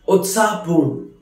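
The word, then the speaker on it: उत्साहपूर्ण: Utsahpoorn, lively or excited. Utsahpoorn, which is pronounced as utsahpoorn, which means very excited, very lively.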